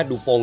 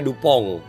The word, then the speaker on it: DuPont: Karena Dupont ini termasuk lama support dengan New Era di awal ya, Dupont ini ya. Orang Jepang bilangnya Dupont. Ya, orang bule namanya Dupont ya.